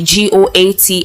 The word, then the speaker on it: GOAT: issue of using the goat acronym which popularly stands for greatest of all time and is pronounced like the animal goats on his Twitter page